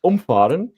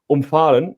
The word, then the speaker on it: umfahren: So when you have like umfahren, means when the A is a bit longer, it means you avoid somebody. Umfahren, and when you do it the A short, then you run that person over.